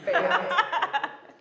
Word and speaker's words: Beat: It's pronounced what? Swiss, that's all. Bayat.